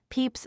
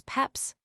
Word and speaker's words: Pepys: There have been numerous ways of pronouncing the name as Peps, Peeps, and Pepes. The diarist undoubtedly pronounced it Peeps, and the lineal descendants